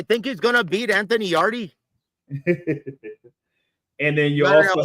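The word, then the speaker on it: Yarde: And fans, look, I know you guys are some uncultured swine, but it's pronounced yard, not yardy.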